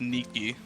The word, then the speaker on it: Nike: swishes yeah you know Nike is the uh Greek word for victory it's pronounced Nikki yeah the the she's